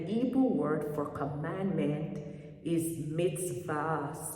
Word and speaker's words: mitzvah: they fall under God's curse, which he already pronounced against them. And the Hebrew word for commandment is mitzvah, spelled M-I-S-V-A, which means commandment, precept, law, or ordinances.